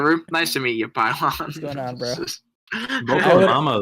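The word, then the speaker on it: Pilon: and Mama hymore and pylon I hope that's how you say it because that's awesome how's it spelled p-i-l-o-n yeah it's definitely be long then that's pylon you're just the GM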